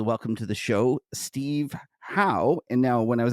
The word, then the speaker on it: Hou: it like h-o-w-e and I said that as a Canadian that's like Gordie Howe so I'm gonna call